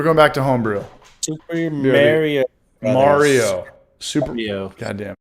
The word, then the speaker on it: Mario: It's Mario, like Lemieux. Shout out to Jason for getting it right. It's not Mario.